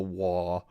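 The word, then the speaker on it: WAAGH!: say why without it it's called the wah it's spelled w a as many a's as you like gh exclamation point it should never be spelled without the exclamation point and the more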